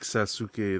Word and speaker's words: Sasuke: Rose Oh, says personally didn't like Sasuke that much.